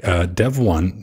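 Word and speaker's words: Devuan: Dev1, that's the correct way to pronounce it, Pedro, or whoever messed with it's a fork Debian.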